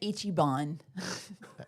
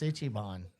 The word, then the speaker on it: Ichiban: Oh, you said Ichibon. It's Ichiban.